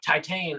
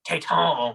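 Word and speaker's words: Titane: i was talking about titan or taitang the french pronunciation i love your french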